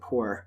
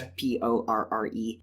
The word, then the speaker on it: Porre: Like, one example is a city in the present day that is, I don't know how it's pronounced, but I pronounced it Poor. Okay. It's Porre.